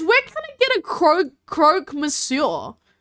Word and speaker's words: croque: Pronounce croque.